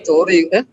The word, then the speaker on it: Cory: Cori. Iya kan nggak bisa kita jadi dengan K gitu. Walaupun dibacanya Kori, kenapa sih?